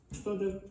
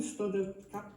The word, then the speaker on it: study: So again, the Brazilian Portuguese mistake of not pronouncing the E in those words at the end of syllables. So you should say study, not stud.